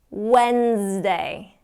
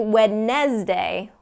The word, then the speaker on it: Wednesday: there Thursday Tuesday Tuesday Wednesday Wednesday and we don't do wet Nez day Wednesday is kind of the pronunciation there it's not that D sound when Wednesday Wednesday okay let's do a few more because because mrs.